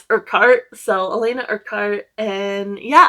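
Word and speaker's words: Urquhart: Um, and so I heard how her name is pronounced and I don't I was trying to add in that extra U and it's Urkart.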